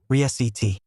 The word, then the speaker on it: receipt: Say it out loud, re-ceit. The P is completely silent. You don't touch your lips together at all. There is no P sound anywhere in this word when it's spoken.